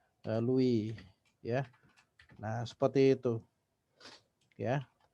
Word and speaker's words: Louis: ya kekuasaan raja Louis jadi tulisannya Louis Tapi bacanya lalui ya Nah seperti itu